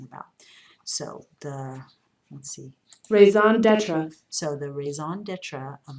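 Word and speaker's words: raison d'être: Okay, and then we've got this French term right here, and I looked this up and I found the pronunciation of it. Raison d'etre. Raison d'etre, okay, and what that means is the most important reason for something.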